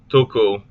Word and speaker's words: tuku: Tuku, put, give. Both vowels as an in pull.